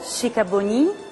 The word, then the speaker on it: Sikabonyi: Io mi chiamo Chicaboni e sono di Roma e basta. Chicaboni? Chicaboni. Ah sì? Questa sì. È l'esatta pronuncia del suo nome? Sì, si sa. Oh, mi scusi, tanto. Abbiamo sempre detto Chicaboni. Abbiamo sempre sbagliato. Se siamo sbagliati. Scuse moi. Allora. La signora Chicaboni, e prego tutti di ricordarsi la pronuncia, non sbagliamola mai più, la conosciamo come attrice